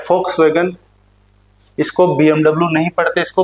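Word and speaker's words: Volkswagen: आप बोल सकते हो हम भाषा में, लेकिन इसका ये अर्थ है, इसको फ पढ़ते हैं, ये वॉक्सवैगन नहीं होता, ये फ होता है, फ फल वाला, वॉक्सवैगन, ये होता है BMW, वे, सही उच्चारण, ठीक है।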